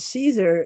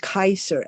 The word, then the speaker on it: Caesar: as Julius Caesar and Caesar is usually pronounced Kaiser at that time that's why we St